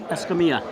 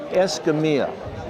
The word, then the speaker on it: Escamilla: How do I pronounce it correct? Escamilla. Escamilla.